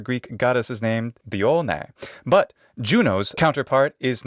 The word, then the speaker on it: Juno: And his beloved sister wife was, of course, Juno, the English pronunciation of that Roman goddess. Juno in Latin.